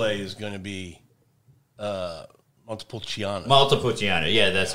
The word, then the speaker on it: Montepulciano: Montepulciano, yeah, that's right.